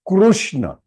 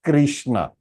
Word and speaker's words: Krishna: with the short one so it is krushna it is not Krishna kishna why we are calling Krishna because in Hindi Kuru is pronounced as is itna or is itna Krishna it's krushna yes it's krushna it's krushna yesu but